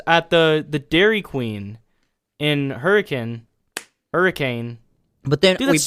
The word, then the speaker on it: Hurricane: So there's a town here called Hurricane, spelled Hurricane, and the pronunciation is Hurricane, I guess.